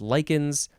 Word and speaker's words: lichens: form as in ifuse lichens l-i-c-h-e-n-s Likens actually there's a picture